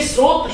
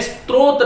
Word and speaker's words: स्रोत: तो ये स्रोत शब्द है, स्त्रोत नहीं है।